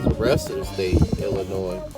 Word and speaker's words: Illinois: And I don't know about as far as the rest of the state, Illinois. Again, the S is silent.